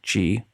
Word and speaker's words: Qi: plus which works with Gee Gee is spelt Qi charging tech and happily